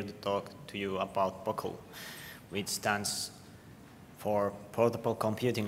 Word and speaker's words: POCL: Is that how you pronounce it, right? POCL.